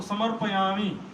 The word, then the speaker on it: समर्पयामी: मैं बीच में गया था एक जगह, मैंने देखा समर्पयामी ठीक से नहीं बोल रहे, बोलो समर्पयामी, समर्पयामी, समर्पयामी, पता नहीं जो है मुख से जीभ लड़खड़ा रहा है।